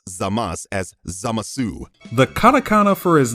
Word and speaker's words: Zamasu: What would you call this Kaioshin? What? Zamasu? Zamasu? Well, guess what? No! It's Zamasu.